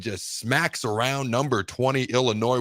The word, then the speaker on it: Illinois: Max around number 20 Illinois where the S is silent 38-9 and it was